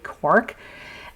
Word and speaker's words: Quark: traditional recipe uses quac I'm pronouncing it the German Way quar quu a r k quark and it is um